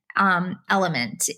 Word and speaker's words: Element: I'm also a big fan of the Element brand electrolyte powder, which is spelled LMNT, Element. And it's really good.